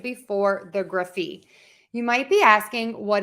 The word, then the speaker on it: -graphy: And we are going to pronounce it gruf-fee, gruf-fee. I'm using that schwa sound, that short, quick sound in there, the gruf-fee.